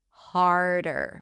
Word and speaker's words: harder: Harder. Make the D really light.